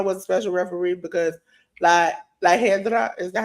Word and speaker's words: La Hiedra: Iguana was a special referee because La Hedra, is that how you pronounce it?